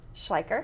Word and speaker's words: Schleicher: Schleicher.